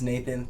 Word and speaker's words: Knathan: It's Knathan. K is silent.